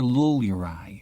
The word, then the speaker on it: Lulurai: His name's Scender Lulurai, pronouncing it to rhyme with pull your eye.